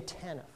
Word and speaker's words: TANF: After 1996, welfare became TANF, Temporary Assistance for Needy Families, with the accent on the T, accent on the temporary.